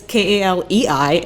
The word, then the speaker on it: Kaleigh: But my first name is Kaleei, and my last name is.